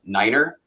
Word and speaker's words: niner: looking at verbs um there's a prescribed pronunciation of numbers one of the most famous ones is uh Niner um which historically and whether it's true or not they say oh the Germans will say nine means no so let's use Niner um who know if